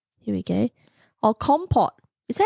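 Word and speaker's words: compote: And I don't think it's compay. I don't know how you pronounce it.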